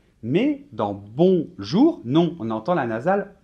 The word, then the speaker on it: bonjour: 10 grammes justement donc dans les nasale on ne doit pas prononcer le elle allait même si on l'écrit 1 oui donc on va dire par exemple bon jour et ne dites pas bonne jours ouais ça c'est une erreur typique par contre on dit